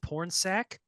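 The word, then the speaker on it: Pornsak: guy that wrote this I hate saying his name because it's literally pronounced porn sack but he's great he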